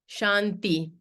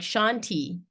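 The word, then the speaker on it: शान्ति: this could be like Shanti right it's not the fault of the English speaker to call it Shanti it's a soft T but you can see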